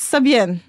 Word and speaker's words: Sabien: So she said that my name is Sabien, because my real name is Sabina.